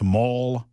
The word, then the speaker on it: Mol: And I'm now being told that M O L is pronounced Mole. Okay. I mean, as in destroy us with claws.